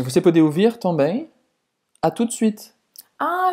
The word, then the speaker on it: à tout de suite: Não pronunciar esse T. O em português. U em francês é a mesma pronúncia do que a letra U em português. Então, tout, de para fazer o E, você faz a boca do O e fala E.